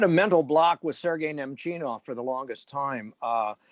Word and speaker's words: Nemchinov: I had a mental block with Sergei Nemchinov for the longest time. It came out Nemchimov, and I don't know why. I mean, it's only 3 syllables. It's not that hard.